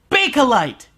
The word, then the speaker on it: Bakelite: It's pronounced Bakelite.